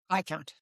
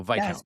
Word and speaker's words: Viscount: Viscount. Viscount. Okay. So the S is silent. So Viscount. Correct.